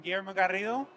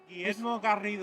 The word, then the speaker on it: Guillermo Garrido: Hi, I'm Guillermo Garrido. How do you say that? Guillermo Garrido. Oh, I love that. Yeah, That's you roll those R's very well.